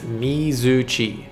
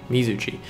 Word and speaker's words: Mizuchi: pronounced Mizuchi. Mizuchi.